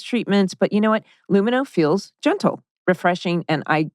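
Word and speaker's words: Lumineux: dentist for those treatments but you know what luminous feels gentle refreshing and i actually get results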